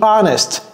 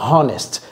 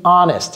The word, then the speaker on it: honest: Be honest et ne dites pas honest. Les francophones disent honest. Non. Be honest. Il y a un H muet là-bas.